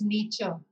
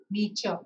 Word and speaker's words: Nietzsche: It is pronounced Nietzsche. Nietzsche.